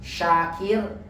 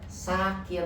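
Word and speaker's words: شاكر: Kayak tadi juga syakron dengan sakron beda ya. Hati-hati. Kayak shin, syakir, sakir itu beda banget. Mabuk sama bersyukur kan jauh ya.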